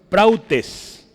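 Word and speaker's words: πραΰτης: Le escribo en griego arriba y abajo es prautes. Así se pronuncia.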